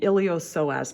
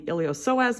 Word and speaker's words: iliopsoas: is all called the iliopsoas muscle it's kind of a weird name that p is silent technically it starts as